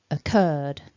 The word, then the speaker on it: occurred: see here is that the stress is on the second syllable and we begin with a nice weak schwa so our stressed syllable is curd we've got our a long er vowel and then that voiced d curved putting those back together then occurred occurred so as i said